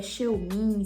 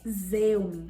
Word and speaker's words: Xeomin: Eu sei que muita gente tem dúvidas se é Xeomin, se é Zeumin, enfim. E por ser da Merz, que é uma marca alemã, a pronúncia correta é Zeumin, tá bom?